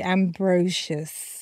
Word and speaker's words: Ambrosius: more time for me ambrosious is that you said it ambrosious okay so people do say Ambrosius right okay then it's ambrosious I don't even know